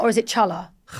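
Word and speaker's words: challah: Or is it chala? Kala. It's spelled chala, isn't it? C H A L L A H. Yeah. Yeah. But you say Kala bread. Now, hala bread is a famous Jewish bread.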